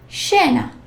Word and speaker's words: scena: SCI or SCE. sounds like sh. Scena.